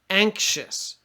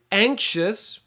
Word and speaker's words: anxious: this word last time anxious uh it's an X but it sounds like ank so ank sh is how you pronounce it um and anxious I'll put brackets so